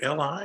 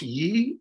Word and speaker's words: Li: You write it L-I or L-E-E, Romanize it, but it's going to be Li. In Korean, it might be pronounced Yi or Ri.